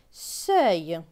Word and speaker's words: seuil: S avec E-U-I-L. E-U-I-L se prononce œil. Donc S et œil, seuil.